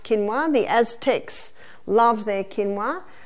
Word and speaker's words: quinoa: become familiar with it's spelled quoa but it's pronounced quinoa the Aztec love their quinoa Aussies are starting